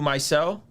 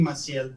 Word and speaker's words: Maciel: Mycel? It's Maciel. Maciel, okay.